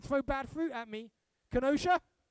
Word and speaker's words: Kenosha: city i don't know if i'm going to pronounce this right don't throw bad fruit at me kenosha kenosha oh nailed it bring me back next year